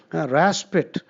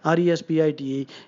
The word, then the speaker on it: respite: Raspit. This weird word is pronounced raspit, but the spelling is R-E-S-P-I-T-E.